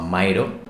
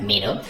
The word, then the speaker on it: Miro: Lo que me va muy bien es poner un mapa mental utilizando un programa que seguramente ya conoces, que se llama Miro. También se puede pronunciar Miro.